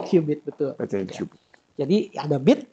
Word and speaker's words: qubit: Dibacanya qubit, betul.